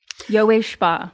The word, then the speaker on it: Yowei Shaw: But what we're going to talk about is what led to you creating the Yowei Shaw. Did I say it right? Yowei Shaw.